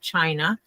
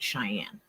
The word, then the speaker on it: Cheyenne: say her name, and Robbie said China, and she put it in there that it's actually pronounced, and she put Cheyenne.